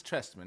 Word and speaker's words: Trestman: I can't pronounce it because It's Trestman.